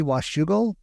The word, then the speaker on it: Washougal: u s h u g g l e Washougal w-a-s-h-o-u-g-a-l oh that's shoe go that makes sense um